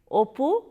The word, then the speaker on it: Apu: from a regional language I will pronounce the names of the characters and the names of the places the way bengalis pronounce it so that you get some Regional flavor Apu apu's father harar re svaja otherwise you may keep as the Bengali keep pronounce it like opu Shaya h the plot